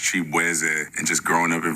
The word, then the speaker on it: Chibueze: I'm Nigerian-American, so my last name is actually pronounced Chibueze.